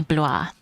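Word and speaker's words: Blois: It's apparently bluer.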